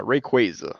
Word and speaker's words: Rayquaza: Even when I knew the name, I mispronounced it. Okay, but yeah, Rayquaza.